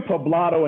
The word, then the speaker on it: Poblado: Is that how you pronounce it? Poblado, yeah, Poblado.